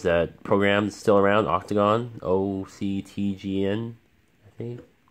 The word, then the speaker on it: OCTGN: You can use that program that's still around, Octagon, OCTGN, I think. But the logo is an octagon, so that's how people pronounce it.